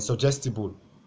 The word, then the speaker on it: suggestible: So we need the third syllable from the right hand side. So we have suggestible. Coming from the right hand side, the third syllable will be gest.